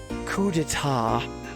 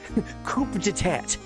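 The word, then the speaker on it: coup d'état: Coup deta. I like reading it phonetically. Coupat.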